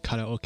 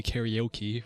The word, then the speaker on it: karaoke: ukul but you know we don't say karoke in in English do we we say karaoke right so who gives